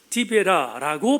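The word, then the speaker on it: 디베랴: 티베리우스라는 말은 로마식 발음이고 그리고 유대인들의 발음으로 디베라라고 발음했기에 디베라 호수가 오늘 본문의 배경입니다.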